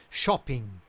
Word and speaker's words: Chopin: Chopin, como se pronuncia certo, né? Chopin.